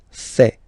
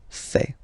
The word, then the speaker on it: fait: Il, masculin, and then elle, féminin, fait. Final T not pronounced. Il, elle, fait.